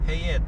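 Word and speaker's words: Fayette: 아, 페이엣. 페이엣이라는 게 이게 이란이나 저 중동 쪽에서 온 이름이야. 그다음에 빌. VILLE. 페이엣.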